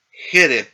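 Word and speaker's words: חֶרֶב: Derej, dos segol y jereb, ¿no? Dos segol. Recae la el acento, aunque no esté indicado acá, en la primera sílaba.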